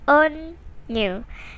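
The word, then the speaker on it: Onew: first up we've got onu his name is pronounced on new if you want to be specific otherwise you can pronounce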